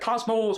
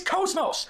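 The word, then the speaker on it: KOS-MOS: And by the way, people say her name wrong. They always say like like Cosmos or Cosmos, whatever. It's Cosmos.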